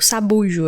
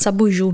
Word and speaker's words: sabujo: a cadela, sobre o sabujo. Acho que eu tava pronunciando errado. Tava falando sabuju, né? Como se tivesse um acento aí no diário passado.